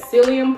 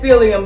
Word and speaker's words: psyllium: We're gonna make this psyllium putty. Is that how you say that there? P is silent, right?